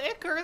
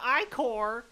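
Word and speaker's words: ichor: it with magical icker that's pronounced i-core i i know i mispronounced it right before saying it but i'm just saying it because i know a lot of people would say it the other way choose your i-core wisely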